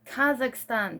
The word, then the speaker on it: Kazakhstan: People from Kazakhstan, I can't pronounce. I gotta find out. Kazakhstan.